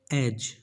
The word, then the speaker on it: edge: edge, edge friends, d is silent, so just pronounce edge, meaning किनारा, किनारा।